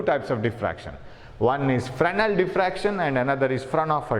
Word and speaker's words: Fresnel: One is Fresnel diffraction and another is Fraunhofer diffraction. So Fresnel diffraction and Fraunhofer diffraction. You see the name, very long name Fraunhofer and short name Fresnel. S is silent here.